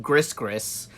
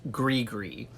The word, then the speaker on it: gris-gris: gr is and no most people think it's pronounced gris-gris but it's not it's pronounced gris-gris and this is a little Gregory charm this